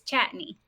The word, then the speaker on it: Chatigny: name right um close it's chatney chatney okay so the G is like silent yes okay my last